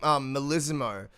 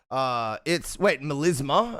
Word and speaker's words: melisma: Melismo is not the term. It's melisma.